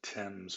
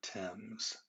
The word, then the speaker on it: Thames: river is called the thames river i know once people see it written out it looks like it's themes but it is not we're going to pronounce the name of that river thames the other thing about